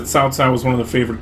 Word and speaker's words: Cao Cao: Now, I think Cao Cao, you have to say Cao Cao to be correct in Chinese.